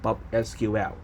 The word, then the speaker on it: PopSQL: So let me go to let you check a bit that how can we connect to PopSQL.